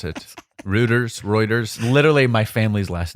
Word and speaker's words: Reuters: doesn't really or Reuters or whatever however you pronounce it Rutters Reuters literally My Family's last name yeah uher reuer is it reuer Reuters yeah I thought your last name was bacon